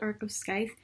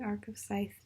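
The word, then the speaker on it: Arc of a Scythe: editing right now and I feel like that I pronounced the earth of Skype and I also think I pronounce it like that in my may TBR and I just want to say that I'm literally stupid and it's pronounced are those dice the arc of scythe yeah I just stupid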